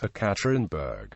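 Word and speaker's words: Екатеринбург: Boris Yeltsin is Eltsin, Yekaterinburg is Ekaterinburg, and Sarajevo is Sarajevo, although Yelena Yankovic is Yelena.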